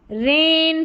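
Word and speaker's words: reign: चलिए next number seven पर है ई आई जी एन। इसको एन करके प्रोनाउंस करेंगे। जैसे रेन फॉरेन सोवरन और यहां पर है फेन और यह है रेस।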